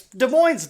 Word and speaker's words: Des Moines: I called a gas station in Des Moines, and then randomly Ryan's like, it's Des Moines, dumbass.